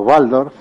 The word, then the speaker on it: Waldorf: El sistema Waldorf, por ejemplo, o Waldorf, para pronunciarlo correctamente, no enseña matemáticas hasta los 8 años.